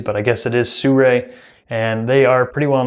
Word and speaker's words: Sirui: Sur va5 fluid head now supposedly it is pronounced Sur even though it doesn't look like it it's supposedly straight from the company heard it pronounced a lot of different ways but I guess it is Sur and they are pretty well known for their